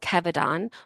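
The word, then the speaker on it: Kevadon: was a drug called Kevon which sounds like the word abdon which is a portal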